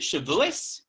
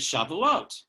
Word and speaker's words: Shavuot: And that is it Shavuos or is it Shavuot? Shavuos, Shavuot. Some people say, oh, we're celebrating Shavuos. Some people say, oh, we're celebrating Shavuot. And I think until we